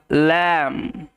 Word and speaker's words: lamb: the Wolf and দা ল্যাম্প আমরা জানি যখন কোন শব্দে এম লেটারের পরে বি লেটার থাকে বি লেটার হয়